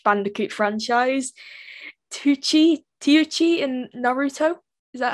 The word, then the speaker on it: Naruto: from the crash bandicoot franchise tucci tiochi and naruto is that how you pronounce his name yeah have some ramen naruto oh i didn't know how to pronounce it